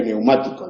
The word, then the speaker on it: neumático: Tenemos pneumático con PN, ¿no? Pero nadie pronuncia ahí esa nasal. De hecho, se escribe neumático ya desde hace siglos, ¿no?